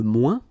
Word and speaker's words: moins: ouin, ouin, okay, and we don't pronounce this final S. Le moins, la moins, les moins.